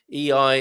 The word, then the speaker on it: Ei: A is how it's said by Gilda. EI is how it's known by the rest of us, I think.